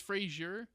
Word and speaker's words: Fraser: How do you pronounce Brendan? I think it's West? Fraser. It is Frasier.